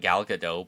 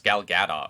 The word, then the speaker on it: Gal Gadot: by everybody pronounce like gal gadot but she's really not french it's gal gadot right no it's it's it's i think it's something like gal gadot yeah well the t is pronounced yeah but it's not